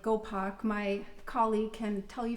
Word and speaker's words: Gopak: pack is actually a it's probably pronounced more like gopak my colleague can tell